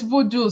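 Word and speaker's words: Vodou: and um oh vod tell me the right pronunciation it's it's voodoo so Haitian voodoo is spelled v o d o u out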